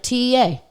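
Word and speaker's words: Téa: Taya Leone, like TEA, with a little fucking accent on there. On the E.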